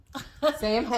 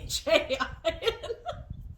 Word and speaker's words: Samhain: For those of you who are unfamiliar with Samhain, or Samhain as it is properly pronounced, but that's not how Danzig pronounced it.